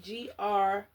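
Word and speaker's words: Grès: Grease, I think it's how you pronounce it. Gres is the perfume house. Cappuccine, but yeah, Gres.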